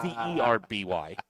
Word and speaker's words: Derby: That's spelled D-E-R-B-Y. But it's called a Derby, not Darby Bybee.